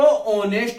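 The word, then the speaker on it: honest: इसको ऑनेस्ट बोलते हैं। क्या बोलते हैं, ऑनेस्ट। और ओ का भाव निकल रहा है तो इसका मतलब स्वर यानी वोवल्स का भाव निकल रहा है।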